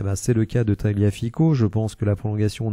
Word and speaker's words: Tagliafico: on peut noter que taliafico que l'on devrait prononcer taliafic et bien a un